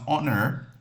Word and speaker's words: honor: Now, with this word here, the word honor, it's pronounced honor. I know it's has a H but this word this H is normally silent.